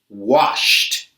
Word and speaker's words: washed: Jumped, cooked, and washed. Can you hear the T sound at the end of the word? Why do these past simple verbs make a T sound?